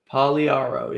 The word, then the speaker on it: Pagliaro: The G is silent and the last I is silent. Wasn't that what it was? Pagliaro. 5 seconds here. Pagliaro, yeah.